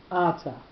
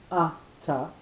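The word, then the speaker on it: אתה: The word ata, when it's in the middle of the sentence, has that normal form with the accent on the last syllable. If it comes at an end of a sentence, two things happen. The first thing is the accent moves to the first syllable, and the second thing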